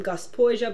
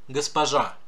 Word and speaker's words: госпожа: Gospodin Braginsky, or if you want to be a woman, Gospoja Braginsky. Oof on that pronunciation. Господин, госпожа, господин and госпожа. Russian stresses are not very regular.